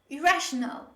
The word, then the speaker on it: irrational: form of this word when you say rational we have only one r we don't have double r when we pronounce this with although there are two r's when we spell this word there is only one r when we pronounce it so say with me